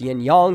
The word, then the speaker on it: yin-yang: be in a yin-yang it is pronounced yin-yang like gong stop saying yank it pisses me off